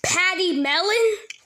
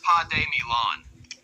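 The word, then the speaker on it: pademelon: related to Kangaroos and wallabies but are significantly Patty melon well close it's actually pronounced P Milan but Patty melon is a pretty cute name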